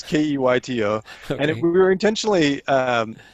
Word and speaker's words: Keyto: It's called Keto, but it's spelled with a Y. So it's Keyto.